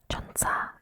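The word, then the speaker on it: 천사: 50 plus from Skin1004 Chunsa 1004 in Korean is also sounds like the word for angel.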